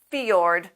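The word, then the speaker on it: fjord: is this word which comes from Norwegian we pronounce it fiord which is probably not perfect Norwegian this combination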